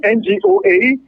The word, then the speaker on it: Ngoa: because the other names, some people like to pronounce it as Ngoa. And for those of you who want to get the name clearly, it's Ngoa Jessica Lydie.